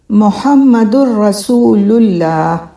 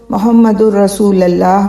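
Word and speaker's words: محمد رسول اللہ: اللہ، محمد الرسول اللہ۔ بہت سے لوگ محمد الرسول اللہ پڑھتے ہیں، محمد الرسول اللہ پڑھتے ہیں، دونوں تلفظ غلط ہیں۔ لام کے اوپر پیش ہونا چاہیے، ضمہ یا پیش، یہ ضروری ہے، کیونکہ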